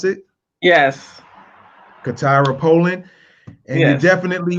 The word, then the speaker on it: CaTyra: We got Peachi Williams and CaTyra. That's how you pronounce it? Yes. CaTyra Polland.